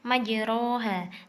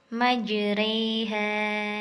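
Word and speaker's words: مجراها: adalah imalah Imamah itu pengucapan harokat fathah yang miring ke kasrah itu hanya ada pada satu tempat yaitu surat hud ayat 41 pada kata disini tulisannya majroha tapi dibacanya majreha Hai kemudian yang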